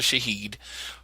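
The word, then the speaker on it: Shahid: call them but I've based on what I looked and pronunciation it's actually Shaheed he is the owner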